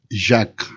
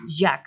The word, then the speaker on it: Jaques: ¿Cómo se pronuncia tu apellido? Jack. Jack. Jack.